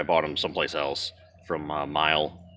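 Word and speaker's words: Meyle: I bought them aftermarket, or I bought them someplace else from Mile, or Meal, however you pronounce it, M-E-Y-L-E. So we'll put that on, which will be easy.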